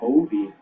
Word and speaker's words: Hovey: as well so cole hobie i've been pronouncing his name wrong but we got that all figured out hobie in this game he